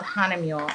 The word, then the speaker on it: Hahnemühle: I should tell you how to spell it. It's not easy. It's called Hanemule.